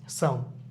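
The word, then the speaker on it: psalm: হাতের তালু অথবা গাছের কথা বলা এটা হচ্ছে সম এটা একটা মজার ওয়ার্ড এখানে পে লেটারটা সেটা সাইলেন্ট থাকবে এবং লেটারটা আছে এটাও সাইলেন্ট থাকবে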